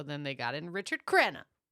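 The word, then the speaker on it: Crenna: So then they got in Richard Krena the rhymes with Emma just like in the friends episode.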